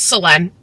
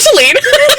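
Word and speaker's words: Solène: talking about the movie, the way I've been pronouncing her name wrong this entire time. It's Selene. I will still be calling her Celine because I'm not about to, that's a lot for my brain to handle.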